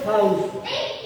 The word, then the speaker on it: Fausto: Porque algunas personas como que me tildan en la U, y no va tildado en la U. Mi sueño hacía acento en la U, y yo me sentía mal, porque escuchaba muy feo. Y es sin tilde.